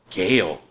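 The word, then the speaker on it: Gaal: got to play um well they pronounced gail in the show i always saw i always pronounced it in my head as as gaul it's g-a-a-l oh okay and i'm like i guess that could be gail you know but that's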